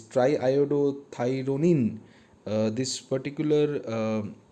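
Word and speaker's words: triiodothyronine: production of thyroxine and try iodo thyrodine uh sorry i pronounced the name wrong is triodo thyronine uh this particular like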